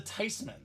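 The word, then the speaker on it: Theismann: languages says makes sense it's a German name with that spelling that pronunciation it should be Ty so Joey t for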